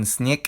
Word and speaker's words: снег: First, if a voice plosive or fricative is at the end of a word, it loses its voice like in snek and ostrov.